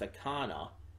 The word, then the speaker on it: Akana: is Anna, but then I want to rhyme the second name. But I think her last name is pronounced Akana. And it's like it throws me off every single time. I think it's supposed to rhyme, though. I think it's supposed to be Anna Akana.